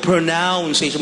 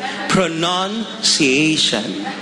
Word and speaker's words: pronunciation: p hindi ka maruno sabi mo pronounciation mali po pronunciation palakpakan natin ang pangin